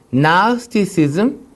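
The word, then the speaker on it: Gnosticism: 그래서 첫 번째 영재주의, 나스티시즘, 그 나스티시즘이라고 하고 G 발음을 안 하고요.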